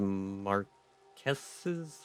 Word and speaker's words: Marquess: A dedication to Mary Blake, the Marquess's wife? How do I pronounce that? How do I say that? Marquis? I'm looking it up. Okay, it says Marquess. Okay, so that's what I'm gonna go with, I guess.